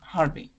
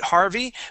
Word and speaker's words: Harvey: had Harvey again and you pronounced that that V perfectly at the very beginning when you uh when you said Harvey you pronounced it with a B okay but then you